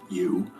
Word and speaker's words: EU: James's AI, which was named you, spelled EU, but pronounced you, had now become more than a chatbot.